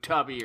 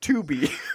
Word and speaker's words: Tubi: Not Voodoo, Tubby, or whatever the hell. I believe it's pronounced Tubi. Oh.